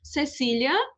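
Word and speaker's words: Cecilia: em toda a América, o Z e o C diante do E e do I se pronunciam como o S. Então, esses dois exemplos anteriores ficam Cecília e Zorro.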